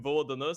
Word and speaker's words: VLDN: off with VLDN, which, I'm really used to calling him Vodana simply because that's the way that old Balkans pronounce it. But obviously, we're going to go with VLDN for the sake of it.